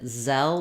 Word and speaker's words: Zelle: and our final l so it might help you to think of the word cell because it's a very similar pronunciation in cell we just have the voiceless and in zell we have the voiced z again letter e does